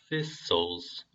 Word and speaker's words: thistles: 이 th는 이빨과 혀 사이로 나오는 그 바람 소리. thistles, thorns, thistles, thorns, thorns and thistles for you, though 이 the와 이 단어 보시면은 though라고 발음을 제가 했는데요.